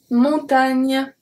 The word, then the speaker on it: montagne: Here, don't forget also that the GN is pronounced a bit like a ni, ni. It's a bit of an I at the end.